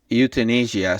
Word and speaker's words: euthanasia: Okay, how do I pronounce it? So okay, so it's euthanasia.